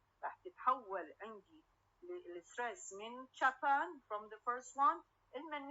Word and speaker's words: Japan: Japan. Japan, the primary stress is where on the last syllable, Japan.